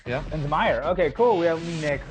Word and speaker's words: Linsmayer: Linsmayer, yeah. Linsmayer.